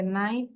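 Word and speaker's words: knight: তাহলে আমরা যদি এখানে রুল গুলো দেখি, কে is often silent before N, এন এর আগে কেটা সাইলেন্ট থাকে, নাইট, নি, নো।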